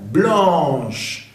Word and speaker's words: blanche: Blanche. Va a pronunciarse la CH como sh.